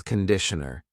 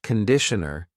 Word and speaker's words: conditioner: This is shampoo and this is conditioner. Be careful of the pronunciation. It's not conditioner. It's conditioner. The first vowel is awa.